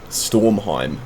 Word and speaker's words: Stormheim: going to want to fly over towards uh stormheim is how you say it you're going to